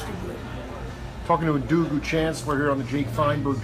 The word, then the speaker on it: Chancler: We pronounce it Chancler, but it's really Chancler because it's French. but because of the colloquialism in Louisiana, it became Chancler.